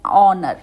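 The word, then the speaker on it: honour: को यूज़ करते हैं एन is also used before the word beginning with silent H एन को हम साइलेंट एच के साथ भी यूज करते हैं example an आवर an honest girl an ऑनर आप देखेंगे कि इसमें भी ऑ की ही साउंड आ रही है वाल साउंड आ रही है दैट्ची वन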